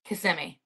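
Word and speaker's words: Kissimmee: a city that's next to Orlando is it pronounced kissm or CMI cimi okay that's what I figured I that's what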